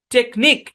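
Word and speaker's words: technique: শব্দের শেষে কিউ ইউ ই একসাথে থাকবে এবং ইউ ই সাইলেন্ট থাকবে।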